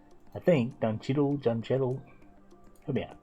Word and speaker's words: Don Cheadle: I think Don Cheadle, John Cheadle. Help me out. Don Cheadle. There you go. There you go. Thank you very much. Don Cheadle.